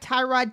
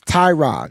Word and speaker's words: Tyrod: It's spelled with a Y. Y makes the I sound. It's Tyrod.